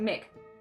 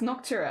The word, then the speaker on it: Noctura: come on I want I keep saying Mick it's not Mick is it it's noctura I'm sorry oh one second